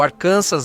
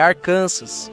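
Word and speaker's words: Arkansas: É arcanças, não arcansas. A ideia era evitar qualquer confusão com Kansas e, provavelmente impedir que forasteiros passassem vergonha.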